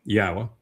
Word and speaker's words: Yahuah: And the ah sound at the end of Torah is the same ah sound as the end of Yahuah.